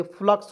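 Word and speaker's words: flux: लिखेंगे तलाबेशा लिख देंगे, फ्लक्स हो गया। जी हाँ दोस्तों, यू को इसमें उच्चारण नहीं करती या अ के रूप में करेंगे, ठीक है, तो फ्लक्स हो गया जी।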